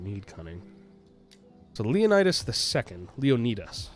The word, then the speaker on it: Leonidas: So Leonidas II, Leonidas, I believe is the proper pronunciation.